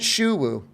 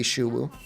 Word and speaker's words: Sho: profile isn't it shouu if we were if it were Chinese and not spoken in the monster hun game it would be shouu but they literally say his name out loud and they call him Sho I don't know don't